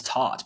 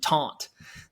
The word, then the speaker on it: taught: It was taught, but you were saying taunt.